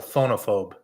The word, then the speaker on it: phonophobe: What does a phonophobe fear? Oh, is that what it says? Yes. The E is silent. Phonophobe.